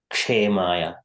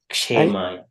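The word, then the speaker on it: क्षेमाय: Kshemaya. Kshemaya. Shemaya. You don't prolong the S a little, no? No, it is the kshemaya. So it is ksha, last letter of the consonants.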